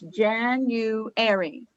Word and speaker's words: January: two different ways it it can sound like there's a double w in the middle but there's not it's just a u it's january okay thank you but